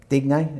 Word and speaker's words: Digne: So did the other full-back, Digne, is that how you say it? Digne, yeah.